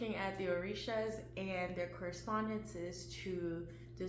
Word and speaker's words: Orisha: Orisha is actually, why am I even pronouncing it like this? It's like my American accent is effing me up. Orisha.